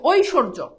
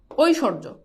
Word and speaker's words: ঐশ্বর্য: এখন তুমি খেয়াল করে দেখো এই যে ঐশ বানানটা কি? উচ্চারণটা কেমন? ঐশ, তারপর কি? স্বর, তারপর হচ্ছে কি? জ। এবার তুমি হর্ষ বসাও, ওই স্বর জ, শেষ, ঐশ্বর্য। এই যে দেখো স্বয়ের দ্বিত্ব